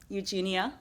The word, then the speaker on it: Eugenia: I'm Eugenia, Eugenia like Eugene, and rhymes with algebra.